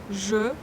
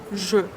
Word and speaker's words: je: Je, here we have caduc sound. It means that this actually can be omitted in some cases, but here we must pronounce it. Je.